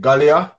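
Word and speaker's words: Giulia: say her name wrong is it galia julia oh julia yeah julia yeah yeah yeah is it julia with a g okay yeah how did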